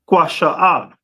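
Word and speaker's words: קישוא: That cucumber is pronounced in the Hebrew as kwasha'ah.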